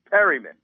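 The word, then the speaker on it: Perriman: Perryman.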